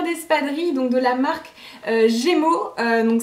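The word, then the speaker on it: Gaimo: donc de la marque Gémeaux, donc ça s'écrit G-A-I-M-O, donc pas Gémeaux comme les magasins de chaussures et de vêtements, hein, c'est une autre marque.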